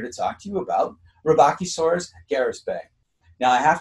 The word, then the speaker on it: Rebbachisaurus: pronounce the name uh robachi source recently has come under scrutiny in terms of how it was even meant to be pronounced and i haven't heard it with my ear but based on what i've seen robochisaurus is pretty close and that's what others have said as well so i'm rolling with